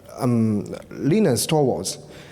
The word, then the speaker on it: Linus Torvalds: So Linus, oh sorry, I should pronounce it as Linus Torvalds.